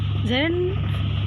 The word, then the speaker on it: gerund: Gerund का pronunciation होता है gerund.